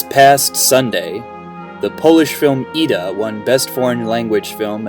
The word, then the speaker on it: Ida: Ida is how it would be pronounced in Polish.